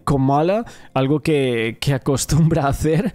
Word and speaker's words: Kamala: La manera correcta es decir Kamala, algo que acostumbra a hacer y que fue corregido por la audiencia.